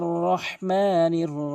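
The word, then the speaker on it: رحيم: ভুল অধিকাংশ আর রহমানির রহিম বলে এখানে ভুল উচ্চারণ বলতে হবে আর রহ এখানে হাতি হলকের মাঝখান থেকে আর রহমানির রাহিম অধিকাংশ রহিম বলে বলতে হবে রাহিম আর রাহমানির রাহিম এরপরে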